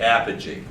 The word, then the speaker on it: apogee: is um oh my god i worked on pronouncing it uh apogee and this is perigee everybody say apogee have a cheese say energy all right now